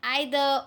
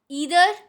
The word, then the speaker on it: either: So either, or, neither, nor are wrong. Either, or, neither, nor. It's a correct pronunciation.